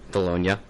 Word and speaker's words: Bologna: saved me on it Battle of Bologna scenario bolog bolog bolognia that's much better thank you my Boney